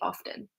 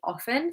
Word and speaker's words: often: I don't know why, but I think most of the time I do pronounce the T and I say often. But I think older members of my family would say often.